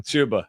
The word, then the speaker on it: Chuba: is number two uh Cuba Hub hubard or however you say his name chuba yeah chuba he's Cuba now uh